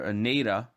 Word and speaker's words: Naira: That's how you pronounce it, Neira in Spanish. But if for those of you, who have some type of fucking problem pronouncing stuff, nothing against you. Neira is fine too.